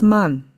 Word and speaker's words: 慢: It's pronounced as man, but I mean slow.